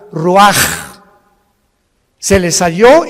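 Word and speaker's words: רוח: Roach así como suena se pronuncia la c en hebreo como J ruaj se le só y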